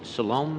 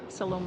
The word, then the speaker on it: Siloam: Gamblin with the Salome mission. I might not have that pronounced right. Go ahead. Yes, you did. Salome mission.